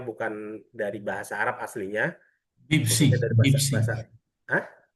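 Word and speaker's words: بيبسي: Fanta Fanta ketika Pepsi, Pepsi. Ah gitu. Huruf P digantikan B.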